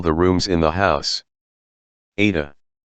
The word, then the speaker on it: Ada: Ada. She pronounced it the Russian way with deep, dark A's, making it sound rather like Ardor_Z.